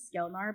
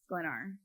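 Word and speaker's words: Sklenar: it's how it's pronounced I thought it was skar but I think it is glenar I see there's an L right after the K so yeah I think it's glenar okay and he he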